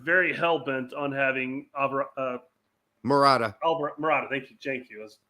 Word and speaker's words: Morata: they want to keep murata i mean no i'm probably butchering the actual proper pronunciation no morata it's morata i'm not rolling my r enough i guess yeah